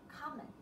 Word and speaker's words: comment: As a noun, it is pronounced as comment. And when it is used as a verb, it is pronounced as comment. The stress is different.